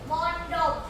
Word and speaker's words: มณฑบ: บัณฑิต อ่าน ว่า บัณฑิ มณฑบ อ่าน ว่า มณฑบ มณฑบ อ่าน ว่า มณฑบ